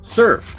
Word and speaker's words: Cerphe: it's spelled c e ER p h e it's pronounced Surf and yes it is